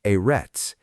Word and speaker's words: אֶרֶץ: Eits pronounced erets.